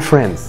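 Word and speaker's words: friends: للضمير لكن في الواقع لما يجيلك حرف الدي بين حرفين ساكنين ما ينفعش تنطقه قول فرينز قول فرينز اكسر الحاجز اللي جواك حرف دي ده وقول فرينز معايا طب كلمه وسيم تقولها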